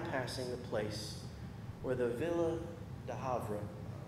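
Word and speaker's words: Ville du Havre: the place where the villa de Havre that's how you pronounce it in French where the ship went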